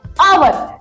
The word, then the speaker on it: hour: एच क्या है, silent है।